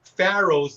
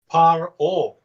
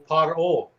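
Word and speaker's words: פרעה: Okay, now, this is how you actually say Pharaoh's name in Hebrew. Paro. Paro.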